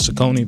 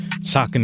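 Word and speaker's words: Saucony: He's worked with Sakin, which I learned is I thought was Sakone back in the day. You know what I'm saying? Sakin is the proper pronunciation.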